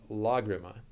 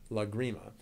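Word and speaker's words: Lágrima: So there's actually an accent over the first A, so it's Lagrima, not Lagrima.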